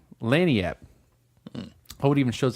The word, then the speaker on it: Lagniappe: They named it Lagniappe. Lagniappe. Oh, it even shows how it's pronounced here.